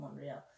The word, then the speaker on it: Montreal: Moorea Moorea so people the T is silent in Montreal it's called monreale so the capital of